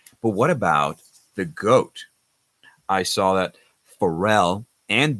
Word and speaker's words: GOAT: But what about the GOAT? I saw that Pharrell and David also got it right. The GOAT. We pronounce this as GOAT. We don't say GOAT because it's just simpler.